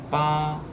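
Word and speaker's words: 八: It's pronounced ba, ba.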